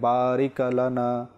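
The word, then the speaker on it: بارك لنا: মনোযোগ দিবেন তো এখানে জজম রয়েছে জজমে সেখানে একটু থামতে হয় অর্থাৎ বারিক লানা বারিক লানা সেখানে জ বড় নেই জেরও নেই বরং এখানে সাকিন রয়েছে জজম রয়েছে সেখানে থামতে হবে বারিকা নয় বারিকি নয় বা কোন কল কলাও নয় যেটা রিপিট আসে এরকমও নয় বারিক লানা আল্লাহুম্মা বারিক লানা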